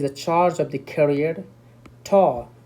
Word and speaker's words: tau: Tau, we pronounce this one as a tau, T-A-U, tau.